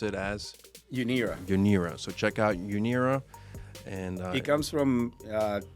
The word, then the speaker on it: UNIRA: and of course your technology app, and you pronounce it as UNIRA.